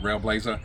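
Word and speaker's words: Railblaza: Railblazer, however you want to pronounce it. It's got an A at the end of it, so I think it's actually Railblazer.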